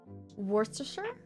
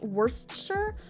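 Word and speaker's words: Worcestershire: Worstershure. Worcester. If If the C is soft, if the C is soft like an S, worsture, because there's an E in the middle as well as well.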